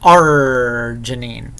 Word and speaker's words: arginine: a one-liner because of the way you pronounce arginine you really stress the art and the lame joke